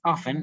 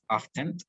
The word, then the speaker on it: often: The pronunciation is often, not often, is often, sometimes, occasionally, and usually.